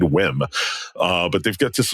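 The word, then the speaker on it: WiiM: $299 whim amp um whim is is capital W lowercase i i capital M there was some confusion as to how to pronounce that but I looked it up before we started recording so I didn't sound like an idiot and it is indeed whim uh but they've got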